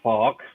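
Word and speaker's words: Fouke: Well, this fella's name is the Fawk.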